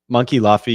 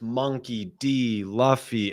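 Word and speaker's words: Monkey D. Luffy: clear because I uh Monkey Luffy, you're up next. Um, people were saying in the chat, they're like, "You can't even pronounce it. It's Monkey D Luffy."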